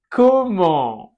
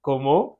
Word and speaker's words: comment: Ensuite, comment? Comment? D'accord? Comment? Comment tu t'appelles? Nasal final. Comment? Et on ne prononce pas la T.